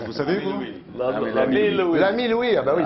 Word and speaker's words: L'Ami Louis: Je sais même pas comment ça se prononce. Vous savez, vous? L'ami Louis.